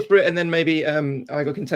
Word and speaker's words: Igor: How do you pronounce your name? Igor.